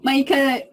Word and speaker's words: Maika: McHenry and I'd like to start off with first of all am i pronouncing your name correctly is it mica it's my gun mieka no mica if you would just tell us a little